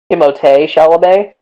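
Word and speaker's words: Timothée Chalamet: oh i was uh first of all it's pronounced uh timote chalamet and second of all i was gonna say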